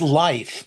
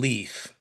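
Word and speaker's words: Leif: Oh, you're talking Leaf. Leaf, life. I'm sorry. The I is comes second in German. You pronounce the I.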